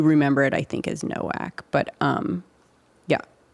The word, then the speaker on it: Nowak: mean, but you are right that it is Novak, right? That's what it should be. If you are pronouncing it in the properly. properly. But uh I do remember it, I think, as Nowak, but um yeah.